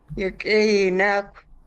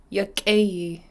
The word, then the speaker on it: Lichéesh: Okay, I just heard her say Lichéesh. Can we please hear it again, Grandma? Perfect. You said it good. Lichéesh. Goodness, T'aawáḳ. Enough cheese. Cheese. How do we spell that?